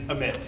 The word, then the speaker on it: Amit: And anyone else who might be embarrassed later to mispronounce my name. This is a glove and my name is Amit.